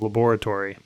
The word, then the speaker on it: laboratory: which by the way correct pronunciation of laboratory there is definitely an o between that b and that r it shares a wall